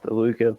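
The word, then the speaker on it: Luka: item now oh wow by the way it's pronounced Luca but we'll go with it Luca l u Ka I cannot pronounce that either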